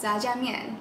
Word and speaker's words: Jajangmyeon: first how do you say it correctly it's jaman ja is that right J I like how